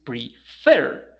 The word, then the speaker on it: prefer: is not prefer it's prefer the accent the stress is in the last syllable and because this ends